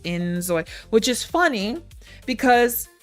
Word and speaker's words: inZOI: Anyway, I think it's actually supposed to be pronounced like enjoy.